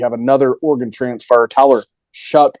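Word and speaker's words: Shough: You have another Oregon transfer, Tyler Shuck, I'm going to believe is how I've heard that name pronounced, not Show as it looks. I think I've heard it pronounced Shuck, which makes no sense.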